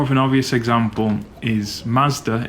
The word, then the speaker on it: Mazda: Maybe a bit more of an obvious example is Mazda in the West is Matsuda in Japanese, which is, it feels a lot more Japanese, right?